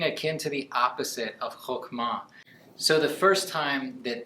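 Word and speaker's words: חכמה: wisdom is just fascinating it's called hokma you say it like that hokma and often we think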